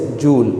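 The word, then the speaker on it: joule: और हम जानते हैं कि द SI unit of work is जूल। जूल भी कहते हैं, जॉल भी कहते हैं, वो स्पेलिंग ये होती है, बस ये आपको याद रखना है।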